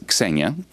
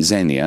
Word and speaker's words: Xenia: It's in Greek it's Xenia. In English you would say Xenia, and it's the goddess of, in ancient Greek, of kindness to foreigners.